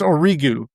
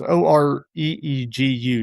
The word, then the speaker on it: Origu: I found out it's Origu. You pronounce Oreegu. That's how it's pronounced, Origu.